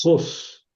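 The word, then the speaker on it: ὅς: Jos. Sí. Aquí está el espíritu rudo. Ven, el espíritu rudo que suena como J antes de la de la vocal.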